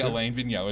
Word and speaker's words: Alain Vigneault: So I'm the American here, all right, and I say Alain Vigneault.